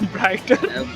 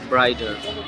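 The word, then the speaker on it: brighter: ब्राइटर एंड इन in American accent they don't pronounce माने like they pronounce till like D ब्राइडर नॉट ब्राइटर ब्राइडर that's why आई आई I tell about the ब्राइडर।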